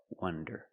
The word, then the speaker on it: wonder: Wander with the open sound, ah, wah, wander, and wonder with the closed sound, wah, wonder.